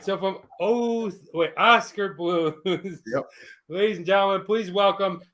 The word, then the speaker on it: Oskar Blues: when i i said oh scar oh scar how does he pronounce it oscar oscar but it's a k it's oscar blues oh i have no idea i always call it oh scare oh scar that's great